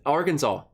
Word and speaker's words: Arkansas: That's Arkansas. And here's the thing, they taught us why it's pronounced that way in Arkansas history.